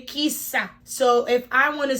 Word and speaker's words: kisa: right okay asian word of the day is kisa so kisa so kisa is spelled k-i-s-a kisa is what okay so we